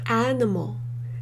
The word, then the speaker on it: animal: 이 느는 중간에 슈아처럼 하셔도 되고요. 핑크로 처리하신다고 생각하시면 가장 쉽습니다. Animal, animal 하세요.